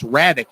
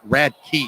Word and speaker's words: Radic: announce his name wrong it's radic not rad key so radically you're gonna